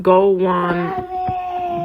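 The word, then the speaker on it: gołąbki: a form baby quit I know so it's pronounced Gold onean by by literally it means little pigeons and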